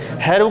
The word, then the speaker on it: Hero: और इस फॉर्मूले को कहते हैं हैरोज फार्मूला। HERO, हीरो नहीं है, हैरो है। स्पेलिंग में हीरो ही है, HERO, लेकिन पढ़ते हैरो है इसे, हैरोज।